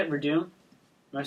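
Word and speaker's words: Werdum: That's how you say it, Verdum.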